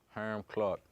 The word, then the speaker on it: Hiram Clark: Okay, so pronounce it for me. Hiram Clark. Hiram Clark. That's the country way to say it.